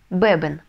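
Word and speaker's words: beben: Бебен. Бебен. Ударение ставить не нужно, потому что и так ставится ударение на первый слог, потому что у нас слово заканчивается на «н». Эйос бебен.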